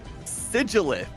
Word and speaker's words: Sigilyph: And today we have Sigilith in I think that's how it's pronounced. I mean it. So it's pronounced like it ends in th even though it ends in ph.